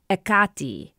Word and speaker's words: Hecate: Brian writes, "The standard ancient Greek pronunciation of Hecate is Hecate or Hecate. The first vowel is aspirated, giving it a kind of H sound. Stress is on the second to last syllable.